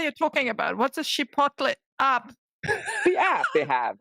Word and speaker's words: Chipotle: they got good management you pronounced that wrong do it again if it's us again Chipotle okay finally that's how you pronounce it because I love